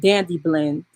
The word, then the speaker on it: Dandy Blend: the coffee uh substitute dandy blend is spelled d-a-n-d-y like candy but with a d and then it's just blend dandy blend and actually let me